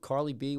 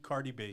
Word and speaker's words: Cardi B: that Carly I listen that how do you pronounce Carly B what's her name oh uh cardi cardi B oh man you listen to her she is